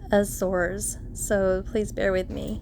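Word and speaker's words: Azores: from Lisbon to F aors which I've since learned is pronounced more like aour so please bear with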